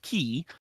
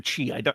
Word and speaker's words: Qi: He died in an abortive coup attempt in his native state of Qi. Is that Qi or Chi? I never remember how to pronounce the Q in pinyin. It's a voiced ch.